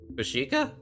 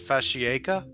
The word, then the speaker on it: Fashika: You read the name right. Fashika. What? How does everybody else read it? Well, that's how you say it. But like last time you reviewed that mock, you said fascia.